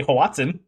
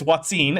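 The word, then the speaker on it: Hoatzin: But, they all just say Hawatsin. I have to laugh. I've been influenced by young Earth creationists. I just realized because I've been pronouncing it incorrectly because they're the only ones I've ever heard say it. Oh, no! Oh no! The shame. Dun, Well- dun, dun. Well, now you know. It's Watson and not Watson.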